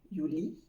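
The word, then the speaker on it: juli: join uni c'est pareil on pense au y de yaourt avec le ou et liit comme un lit sans on prononce bien sûr pas le T Yi yulli puis il y a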